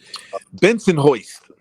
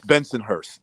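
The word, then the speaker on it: Bensonhurst: was from uh uh Benson hoist that's how they say it Benson hoist it's Benson Hurst that's where they're from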